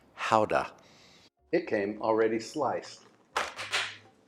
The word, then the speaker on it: gouda: cheese I'm using this gouda actually I think it's pronounced actually it's pronounced houda it came already sliced